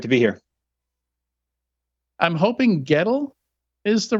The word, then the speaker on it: Goettl: Sam it's great to be here I'm hoping Gettel is the right pronunciation yeah that's correct all right and uh